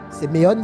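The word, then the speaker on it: σημεῖον: Séméon s'écrit S-E-M-E-I-O-N.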